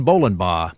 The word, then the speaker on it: Bolenbaugh: here he is John Bowen and he said in case I got into trouble trying to pronounce his name it's just like bowling ball so I started off